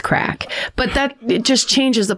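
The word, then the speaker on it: craic: I didn't know how to pronounce the Irish word. It's crack.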